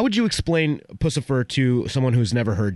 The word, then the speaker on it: Puscifer: is it pucifer or pfer how do you pronounce I've heard 10 different ways puss puss and boot pfer thank you for the clarification now this band